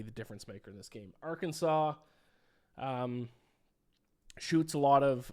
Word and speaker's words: Arkansas: Uh, next up, we have uh Kansas against our Kansas, which is a very funny matchup. Obviously, I know that there it's pronounced Arkansas is making a joke.